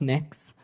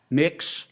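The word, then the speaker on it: Mx.: It's pronounced Mix. Um Mix.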